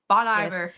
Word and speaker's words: Bon Iver: Bon Bon Iver for I'm not I'm not pronouncing it like that it's ridiculous should not be pronounced like that it's crazy I mean it's supposed to be like good winter that's what it's b e but they don't even spell it correctly so it's fine whatever